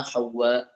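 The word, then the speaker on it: حواء: Nabi Adam, Sayyidina Adam dan Sayyidatina Hawa. Dia ejaan dia ha waw sabdu alif hamzah. Ha pedas waw sabdu alif hamzah. Hawa gitu. Hawa.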